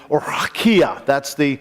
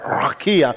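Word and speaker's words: רקיע: what we call the Rakia. I love saying that, don't you like that? Rakia. That's the way it's pronounced in Hebrew, I understand.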